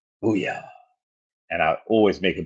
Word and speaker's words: Booyah: breath, they just say, Booyah. And I always make a point of turning around and saying, that's exactly how you say it.